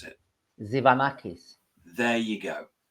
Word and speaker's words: Tzivanakis: tell me so so tell us how you pronounce it zanakis there you go it's easy isn't it when